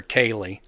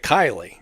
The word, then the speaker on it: Kylie: They'd call her Kaylee instead of Kylie, which is just Kyle with an extra E on the end of it.